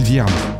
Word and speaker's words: Vierne: Je m'appelle Vierne. avec un E comme empereur à la fin. Et Vierne, ça s'écrit V comme Viagra, I comme imbroglio, E